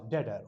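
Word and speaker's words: debtor: term होगी हमारी डेटर बी बी टी ओ आर यहां पर बी साइलेंट रहेगा डी ई टी ओ आर डेटर okay बिनेस capital creditor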